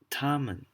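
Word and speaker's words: 他们: people Niemann no eenie meenie knee man Neiman Tommen they took art ah man Tommen it's the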